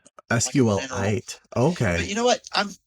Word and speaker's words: SQLite: Is it sequel or is it SQL? The classic developer. I I pronounce it SQ SQL it. SQL it.